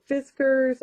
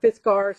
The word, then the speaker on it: Fiskars: I've got this Fiskars, or Fiskars, however you want to pronounce it, hole punchers.